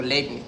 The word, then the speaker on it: Leibniz: Gottfried Wilhelm Leibniz, pero es mejor conocido como Leibniz, ¿no? Podemos decirle Leibniz.